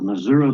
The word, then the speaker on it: Missouri: If you look at the way the word is spelled, it ends in an I. So I'm from Missouri, but that's how we say it.